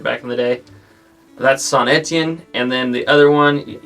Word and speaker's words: Saint-Étienne: have heard me refer to some place as Saint Etienne or Antien or something like that. I pronounced it weird back in the day. That's Saint-Étienne, and then the other one, you may have heard me pronounce it as Maubeuge.